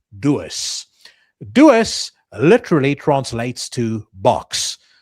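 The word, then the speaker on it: doos: In Africans, we have a word pronounced dois.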